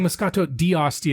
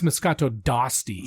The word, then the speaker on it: Moscato d'Asti: Cuz I was saying Moscato d'Asti and they were like, "No, it's Moscato d'Asti."